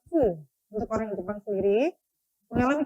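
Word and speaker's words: ふ: Nah, di sini Anda bisa lihat ada huruf di bagian tengah yang seharusnya dibaca hu, melainkan dibaca fu.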